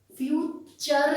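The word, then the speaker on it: future: थे ना, मेरा तो फटूरे ही खराब हो गया क्योंकि हमें प्रोनाउंस करना तो आता नहीं था, जो हमने पढ़ लिया। ये फटूरे नहीं है, ये फ्यूचर है, फ्यूचर, राइट।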